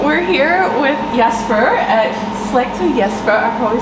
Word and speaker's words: Slagter Jesper: So we're here with Jesper at Slagter Jesper. I probably said that wrong. How do you say it? Okay, Slagter Jesper. Slagter Jesper.